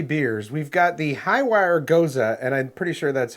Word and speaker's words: Gose: We've got the Highwire Gose, and I'm pretty sure that's how you pronounce it.